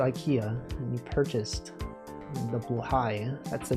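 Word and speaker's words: Blåhaj: What if you went to IKEA and you purchased the blai? That's the name. That's how you pronounce it. It looks like it's spelled blah blah blah, but it's actually pronounced blue high for some reason.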